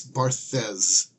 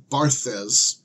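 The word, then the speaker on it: Barthes: eight and that is I don't know how to pronounce this person's name but I think it's barthas and in any event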